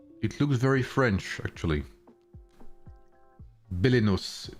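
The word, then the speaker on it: Belenos: Bellinos.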